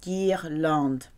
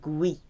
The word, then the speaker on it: guirlande: If you want to create a hard G with an E or an I, you have to insert a U. So it's Guy. Guirlande, a hard G sound, not gui. Guirlande.